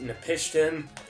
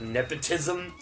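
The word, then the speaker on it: Napishtim: And yes, it is, as far as I know, it is pronounced Nepishtim, not like how Johnny likes to call it Ark of Nepotism.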